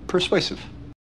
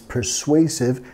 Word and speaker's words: persuasive: Si alguien es persuasive, es que tienen la capacidad de hacerte querer hacer algo o creer en algo, okay? He's very persuasive. Nota que estamos acentuando la segunda sílaba. Persuasive. Persuasive.